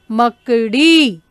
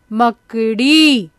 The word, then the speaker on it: मकड़ी: में ले रही हूं मकड़ी मकड़ी यहां पर देखिए नीचे छोटी सी लगी हुई है इसलिए इसका उच्चारण कैसे करें मकड़ी चलिए अगले की लकडी